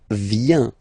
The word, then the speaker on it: vient: Then il, elle, vient. Final T not pronounced.